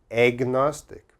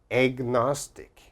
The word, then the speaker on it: agnostic: Agnostic. There's an A here, but it sounds like egg, like EGG. Agnostic. Agnostic.